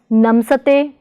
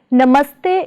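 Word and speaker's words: ਨਮਸਤੇ: Should it be pronounced as namsate? Definitely not. Actually, namaste is made up with the combination of namas and suffix te. Namas is further a combination of na and mas.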